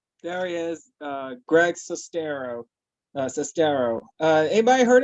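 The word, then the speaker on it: Sestero: the movie is To Go his name is sistero like almost the rhymes with stereo nobody heard of Greg cestero anybody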